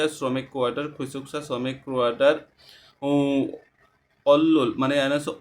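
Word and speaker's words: 원룸: quarter খুসুকসা শ্রমিক quarter অল্ল মানে এখানে অল্লুম অল্লুম উচ্চারণ করবো কেন অল্লুম মানে যে নিয়ন বাচ্চি রিয়াল আসে এটা ল উচ্চারণ হয় এজন্য আমরা অল্লুম অল্লুম উচ্চারণ করেছি অল্লুম মানে হচ্ছে যে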